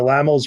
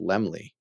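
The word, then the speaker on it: Laemmle: called for that the laml would have been able to repay the debt and retain ownership of universal I think it's pronounced Lemley Lemley that's what I meant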